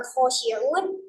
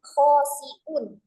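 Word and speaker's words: خاشعون: Jadi dia bacanya bukan khosiun tapi khosiun pakai sin dan juga pakai hamzah.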